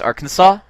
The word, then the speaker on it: Arkansas: It's pronounced Arkansas?